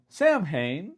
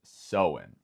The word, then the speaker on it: Samhain: In English, if I guessed how it was pronounced, I would say Sam Hayne, Sam Hine, something like that. But no, it is pronounced sewing.